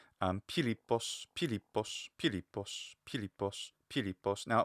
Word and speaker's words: Philippos: We have 3 syllables, right? And the second syllable is a long syllable, lambda iota pi. So lip, and then followed by pos, lippos. Now, of course, in Latin, it's Philippus or Philippus. The stress in Latin will, of course, follow the penultimate stress rule.